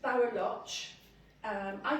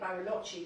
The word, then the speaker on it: Baroloch: This is Baroloch. I call it Barolochi because I think in Wales we always have that upwards inflection. So I think the proper pronunciation is Baroloch.